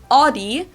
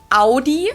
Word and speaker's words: Audi: first one is Audi most Americans that I know pronounce it like I just said it Audi in German we say Audi Audi Audi and there's actually a